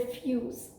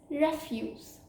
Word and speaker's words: refuse: of this word is ref refuse which means to deny the other pronunciation is refuse which means waste or garbage for example they refuse